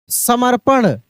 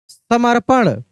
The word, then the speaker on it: समर्पण: पटुता के बाद समर्पण समर्पण तो स म देखिए एक बार बोल कर देखेंगे समर्पण ण स म उसके बाद र का उच्चारण हो रहा है लेकिन र का उच्चारण तेजी में हो रहा है तो समर यानी प के ऊपर एफ की मात्रा लग जाएगा समर्पण ऐसे समर्पण समर्पण के बाद है